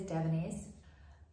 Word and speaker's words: Davines: So how you say it is DAVINES.